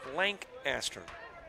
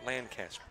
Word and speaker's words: Lancaster: the sponsors and it's we are blank aster not Lancaster ok so I got the emphasis on the wrong syllable Lancaster maybe that's closer